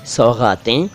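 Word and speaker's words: सौग़ातें: यहाँ बात करूँगा तीन शब्दों की, सौगातें, खामोशी, हज़ार। सौगातें किसे कहते हैं? देखिए, सौगात नहीं, सौगातें, गा के नीचे नुक्ता।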